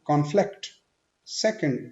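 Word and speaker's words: conflict: तो आपने ध्यान देना है कि अगर same word as a noun use हो रहा है तो आपने डिफरेंट प्रोनाउंस करना है फर्स्ट सिलेबल पे स्ट्रेस देके, और अगर वही word as a verb use हो रहा है तो आपने सेकंड सिलेबल पे स्ट्रेस देना है।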